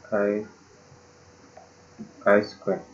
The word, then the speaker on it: chi-square: Ini bacanya chi-square.